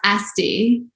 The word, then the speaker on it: Asti: for the love of god correct me it's pronounced asti yeah you were right yeah you're right okay